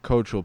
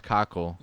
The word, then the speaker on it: Cockle: you got Andrew cockle it's not cultural people it's cockle hence why I know hence